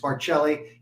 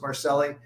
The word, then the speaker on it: Marcelli: m-a-r-c-e-l company c-o-m-p-n and i always mispronounce my name but for the people in new york it's marcelli on the west coast they don't know from italian so it's marceline and uh look at